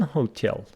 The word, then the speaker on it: hotel: complaints at a London hotel you see that the stress of hotel is on the second syllable Hotel 40 mil from